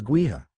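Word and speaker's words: Gaoth: Yes, the pronunciation is Gua, Fox confirmed.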